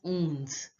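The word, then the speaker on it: onze: 11 is pronounced as ons. Ons. Remember, on is the nasal sound.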